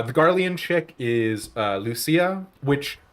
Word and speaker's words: Lucia: Um, Porsche, uh, Ammerick, uh, the Guardian chick is, uh, Lucia, which they pronounce her name as Luchia in the voiced lines of Heaven's Ward.